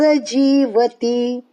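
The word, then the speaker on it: जीवति: पार्थ रस जीवती जीवती जी दीर्घ जी और ती जो लास्ट की जीवती की ती रस्व तो फिर कैसा उच्चार आएगा जी वती जीवती ती रस्व उसका उच्चारण जल्दी से जी दीर्घ उसका थोडासा जी को थोडा खींचना जीवती जीवती मोघ पार्थ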